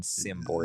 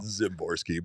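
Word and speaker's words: Szymborski: But I mean, you clearly pronounce it with a Z sound. Sound. His name is not Dan Szymboski. Yeah, it's Dan Szymboski.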